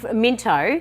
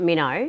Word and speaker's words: Minto: Oh, well, Minto. Minto. But the locals call it Minnow.